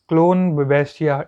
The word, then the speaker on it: Schloenbachia: जो chief fossils हैं हमारे, इनमें चीफ फॉसिल्स हैं जैसे सेफलोपोड्स में SCHLOENBACHIA, क्लोन बेबेस्टिया, इस एस को मैं साइलेंट पढ़ रहा हूँ।